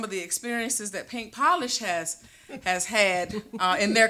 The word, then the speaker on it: Polish: Polish comes from actually a lot of times people can sometimes mispronounce our name we get palish English is a is one that we hear often but polish actually its PA we took the first two letters or two letters out of our first names